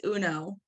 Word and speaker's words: Huneault: It's Uno.